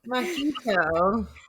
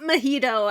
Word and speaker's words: Mahito: Mahito. Mahito. Not Mojito, as I always say his name. And Wyatt always goes, he's not a drink.